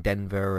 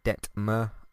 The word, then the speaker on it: Detmer: by the way her i've been trying to work out how exactly to pronounce her name and i've been saying denver and uh det ver or whatever it's uh detmer uh so she's the